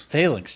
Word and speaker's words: Phalanx: Phalanx? What the hell is it? How do you say it, Hugo? Phalanx, Jesus.